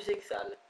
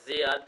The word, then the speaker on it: Zexal: et ce sera pas du zexal enfin zal puisque le X ne se prononce pas euh ce sera pas